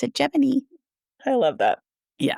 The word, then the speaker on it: Gemini: Yes, you're like, it looks like Gemini, but it's Gemini. Yes. But it's not. NASA is special, and they pronounce it Gemini.